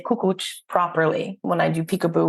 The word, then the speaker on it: Kukucs: was pronouncing it incorrectly it's cuch with a little bit of a at the end okay now that when